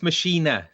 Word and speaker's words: Maschine: Oh yeah, it is Maschine.